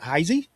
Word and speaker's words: Heise: They pronounce it Heisy.